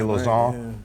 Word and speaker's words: Lauzon: But when he came back, they moved him down to the third pair and they moved Jeremy Lauzon. How do I pronounce it right?